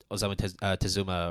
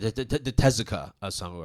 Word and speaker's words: Osamu Tezuka: Whereas this, on the other hand, yes, it does have the Osamu Tezuka Award, right? Did I pronounce that correctly? Yeah, yeah. Yeah, the Tezuka Osamu Award.